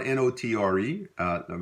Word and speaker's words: notre: But we typically in Louisiana French, we don't pronounce the R-E at the ending, except maybe make a liaison when it's followed by a vowel. So you would hear like notre garçon, our boy, our